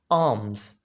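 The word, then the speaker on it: alms: इसमें एक बात याद रखिएगा, इसके अंदर एल जो है इसको प्रोनाउंस नहीं किया जाता, इसको नहीं अदा किया जाता. आर्म्स यानी एल को इसमें साइलेंट रखना है.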